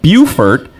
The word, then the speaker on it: Beaufort: the website right now Beaufort pirate invasion dot-com it's it's spelled like Beaufort but they're too highfalutin they call it Beaufort up there how you